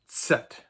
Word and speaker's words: Z: that is called a Z, and it's not at all pronounced like a Z, like a voiced sibilant.